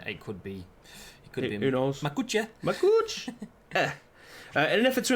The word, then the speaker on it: Makuch: I'd have said Makuch as in much, but then again, it could be. Who knows? Makuch.